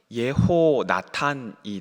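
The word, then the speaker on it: יְהוֹנָתָן: 요나단이라는 이름을 히브리어 발음을 살려서 발음하면 예호나탄이 됩니다.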